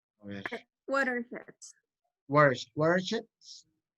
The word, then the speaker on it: watersheds: Watersheds. Es más una E a una I. Watersheds. Ok. Watersheds. Muy bien. Porque a veces uno se equivoca y le pone una I, suena watersheds, sería como ríos de mierda, literalmente.